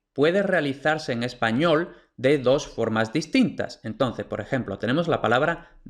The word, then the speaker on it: dedo: D en español, entonces la pronunciación real de dedo no es dedo, como suelen pronunciar los extranjeros, no es dedo, no, un nativo dice dedo.